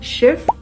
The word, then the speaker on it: Schiff: Kalau kamu perhatiin, cara baca schief itu sedikit lebih panjang daripada kalimat kedua yang diucapin schiff. Kedengarannya lebih cepat kan? Sedangkan kalimat yang pertama tuh kayak panjang.